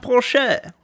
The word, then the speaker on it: Porsche: It's pronounced Porsche.